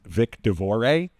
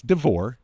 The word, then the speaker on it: DeVore: Luckily, they mispronounced my name on most of the radio stations as Vic DaVore. It's DeVore, just if you're wondering.